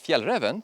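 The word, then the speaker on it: Fjällräven: that didn't stop specialized and Swedish Outdoor Specialist Fiel Revan from coming up with a pack that does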